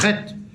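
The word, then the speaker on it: חית: Par contre, la lettre Chet, qui se prononce avec la jota espagnole, hein, que beaucoup de gens, surtout des ressortissants de Tunis, ont du mal à prononcer, ils utilisent le resh pour dire le Chet, voilà, mais ça devient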